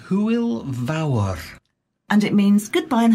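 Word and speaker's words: Hwyl fawr: join in with a goodbye yeah sure it's pronounced who will vour and it means goodbye and have fun cool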